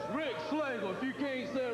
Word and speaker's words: Rexx Slagle: It's Rexx Slagle.